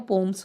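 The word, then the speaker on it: poems: वैसे जिसकी correct pronunciation है पोएम्स नहीं है, इसको पोम कहते हैं, पर जनरली बच्चे ध्यान नहीं देते, तो मैंने इसलिए पोएम्स बोला है। इसका जो करेक्ट है वो पोम्स होता है, पोम्स।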